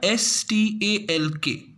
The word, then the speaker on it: stalk: This is written with a STALK, but we pronounce it stalk.